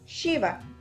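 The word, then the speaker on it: शिव: esto es al decir Shiva. Shiva es un poco como cuando hacemos shh, es ese sonido del aire, shh, Shiva. Entonces, de ahora en adelante, ya no pueden volver a decir Shiva, porque si es bien es cierto, es el mismo punto de articulación, la lengua no toca el órgano de la boca, sino es la fricción del aire.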